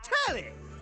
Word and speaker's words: Tally: The name's Tally. Rhymes with Nelly.